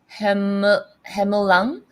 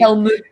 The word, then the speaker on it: Helmut: Derek Hemulang. Oh, Helm. Yeah, I know it's so hard to Helmut. pronounce his name. Helmut.